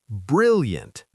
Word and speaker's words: brilliant: Brilliant. Two syllables. Stress on the first.